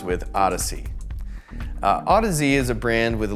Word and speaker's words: Audeze: i was inclined to read the name as audis but i soon learned it was autism a good mnemonic for this is remembering that odyssey rhymes with odyssey autozy is a brand with a lot of audiophile